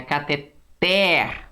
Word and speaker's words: cateter: Cateter. O té é o mais forte.